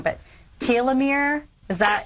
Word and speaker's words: telomere: It had to do with, forgive me if I'm pronouncing the word wrong, but telomere? Is that? Telomeres, yes.